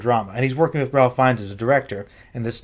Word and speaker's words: Ralph Fiennes: And he's working with Ralph Fiennes as a director in this new drama. Rafe Fiennes. I call him Ralph. It's how it's spelled. He's working with Rafe Fiennes as a director on